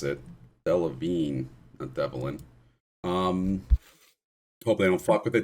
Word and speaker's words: Delevingne: offended by that though because it always happens Delevingne is how you pronounce it Delevingne a Devlin um probably I don't [ __